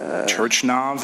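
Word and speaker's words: Turchynov: Turchinov, is that how you say it? Turchinov, thank you for helping me.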